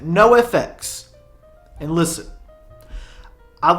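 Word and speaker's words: NOFX: A band that for years and years um I did not know how to pronounce. No. No. Nafalsa NX. How do you say it? No FX.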